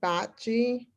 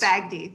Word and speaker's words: Bagdi: From Old Dominion University, we have. I'm not doing very well with names today. Close, Bagdi, very close.